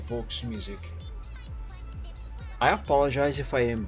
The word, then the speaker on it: Volksmusik: Pronunciation was okay, just the V is like F in German.